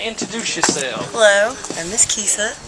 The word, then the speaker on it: Kisa: So jump in there, Miss Kissa, introduce yourself. Hello, I'm Miss Kisa. He said it right. Most people say Kissa. Kissa? It's not Kissa.